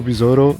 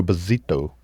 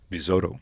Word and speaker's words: Bizzotto: My name is Besouro and I'm here at Two Plane Guys.